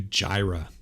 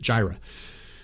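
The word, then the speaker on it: Jireh: it because i was curious how they pronounce gyra so i'm going to pronounce it the way they pronounce it jira i'll never be more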